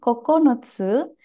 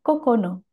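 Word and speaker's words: 九: Untuk kanji angka 9 memiliki kunyomi kokonotsu dan bisa juga dibaca kokono. Untuk onyominya ada dua, dibaca Q atau dibaca ku.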